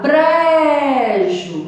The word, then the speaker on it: brejo: E tinha outra palavra, brejo. Ó, o bre, você dá mais aquela ênfase. Brejo. Então, a sílaba tônica é o bre.